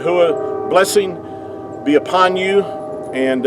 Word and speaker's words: Yahweh: Yahweh is the way that our creator's name is pronounced.